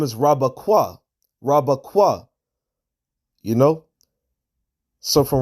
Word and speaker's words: Rebekah: Connect this here between the Kwa and the Ha, because her name is not pronounced Rakwaba Rabakwaha. It's not Rabakwaha, it's Rabakwa.